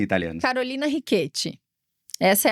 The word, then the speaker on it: Ricchetti: Rquete, na verdade, assim, qual é a pronúncia italiana? Carolina Riquete, essa é a pronúncia. Só que assim, o Ricket ele é mais bonito, né?